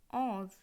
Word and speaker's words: onze: 11 উচ্চারণ হবে ONZE, অজ।